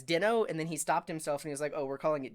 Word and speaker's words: Deno: heard it called it calling it Dino was a bin Awad he has a YouTube channel and I was like Ben Ben's always pronounced things weird he calls no daman no demon but I mean that's probably a right pronunciation subway was like is it really Dino and I saw a conference talk like Ryan doll introduced it as Dino and then he stopped